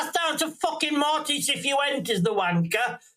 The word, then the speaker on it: Cifuentes: No, you're saying his name wrong. It's Cifuentes. Cifuentes.